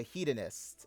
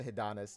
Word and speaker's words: hedonist: It's called the Hedonist. Okay, I actually got this word wrong the first time I said it. I said hedonist, right?